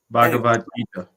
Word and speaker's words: Bhagavad Gita: focus is around the Bhagavad Gita, or the Bhagavad. I always say that wrong. Bhagavad Gita. Yes, I always end up missing a syllable in there.